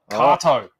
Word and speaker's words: Kato: Kato.